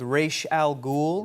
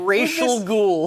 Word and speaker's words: Ra's al Ghul: Who's this Racial Ghoul? But this is amazing because that's the actual correct pronunciation. That's right. Correct Arabic pronunciation. For decades, Batman fans have been saying Ra's al Ghul incorrectly.